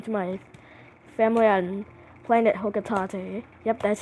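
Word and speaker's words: Hocotate: If I can't recover them all, I may never return home to my family on planet Hokatate. Yep, that's how it's pronounced, according to Smash Bros.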